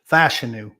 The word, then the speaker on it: Fashanu: alt could be gone before seven fashanu uh fashanu is how he pronounces it uh you know are his hands